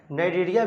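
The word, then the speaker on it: Cnidaria: तो उसमें ब्रैकेट में नाइरिया भी लिखा है। क्या लिखा है नाइरिया? यहां पर जो सी है वो साइलेंट है।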